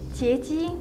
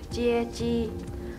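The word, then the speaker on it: 接机: 截机？你想做大贼吗？不，其实我想说的是接机。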